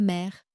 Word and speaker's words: mère: Je vous explique, il existe quelques mots où le e est suivi de deux consonnes ou d'une consonne finale prononcée comme les mots. La mère, mère s'écrit m e r.